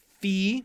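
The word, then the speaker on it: phi: okay that u sound Fe this is the the like in phone the pH F Fe just do it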